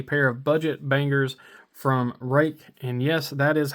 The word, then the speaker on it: Ruike: look at a pair of budget bangers from Ruike. And yes, that is how you pronounce the name. That name is Ruike.